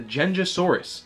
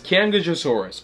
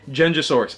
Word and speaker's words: Qianzhousaurus: to be talking about the genjisaurus also thought to be pronounced as kangasaurus or Kansas saurus or kyonjusaurus no it's genjisource I know it's confusing